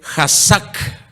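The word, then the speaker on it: חזק: Es con K de kilo al principio y luego dice Hazak, con C de casa al final, con K de kilo al principio.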